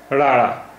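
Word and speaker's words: ੜ: राड़ा, इसका उच्चारण हिंदी के ड़ा जैसा है।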